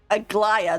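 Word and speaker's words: Aglaea: Aglaya, that's how you say her name. Aglaya. I have to hear the characters' names because my English brain wants to like say this in a certain way, and it's like, no, that's like a Greek name. It's the pronunciation might be a little bit different, but Aglaya.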